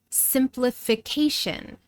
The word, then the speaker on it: simplification: Simplification, simplification, 5 syllables. So again, the long vowel sound I becomes short I in this unstressed syllable.